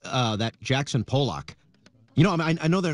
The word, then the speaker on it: Pollock: chucking it everywhere I mean it's great it's pronounced Pollock but Brian you don't have to keep trying